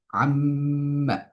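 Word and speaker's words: عمّ: আম্মা, এই শব্দটার মধ্যে আমরা যদি দেখি, মিমের মধ্যে আমরা গুণা করছি।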